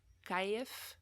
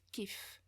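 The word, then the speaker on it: كيف: word that most people know for how is kaif but in tunisian it's pronounced kief but if you reduplicate it if you say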